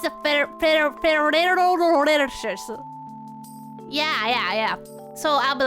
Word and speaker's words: Ferrero Rocher: It's a Ferrero Rocher.